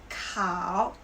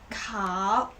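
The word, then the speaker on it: 烤: eight verbs okay so the first one is cow cow which means roast you can see this part it's the fire right so cow is the fire we can say cow young ro yang means the sheep yang zhou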